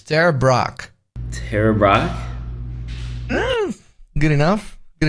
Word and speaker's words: Ter Braak: my name is Leroy my last name is Dutch but I'm I'm going to have and try see if you can pronounce it it's Terra Brock Terra Brock good enough